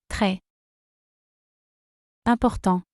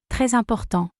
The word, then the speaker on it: très important: Très. Important. The liaison is made and is pronounced like this. Très important.